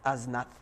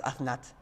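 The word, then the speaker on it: אסנת: I'm pronouncing it Osnat, but if you look at the Kurdistani pronunciation, it's Aznat. Aznat. They pronounce it properly, the thuf with the th. It says Athnat.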